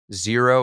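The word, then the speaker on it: Xero: these tools like wave zero is another one spelled with an x x e r o but that one I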